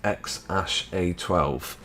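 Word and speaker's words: X Æ A-12: a and intended to call him which is pronounced X a12 that's an odd one what was it X a 12.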